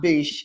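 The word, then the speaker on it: Biche: it yeah it's my Bish so it's uh m a b i hang on a second let me double check I think it's b i c h e but it's pronounced my Bish I just like saying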